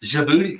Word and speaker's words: Djibouti: Djibouti cat. It's not my booty, it's Djibouti.